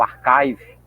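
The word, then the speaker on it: arXiv: Tem até aqui um no archive, tá? Tem se escreve ar, né? Mas só que a gente lê arve, archive, né? Se você fosse ler em português, mas em inglês você lê arve aqui, tá?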